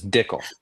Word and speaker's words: Dickel: It's Dickel. It sounds like tickle, but it's different. It's spelled different Like- for sure.